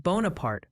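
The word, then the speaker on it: Bonaparte: On a lighter note, the pronunciation police say it's Wello for Wapello and Bonapart for Bonapart.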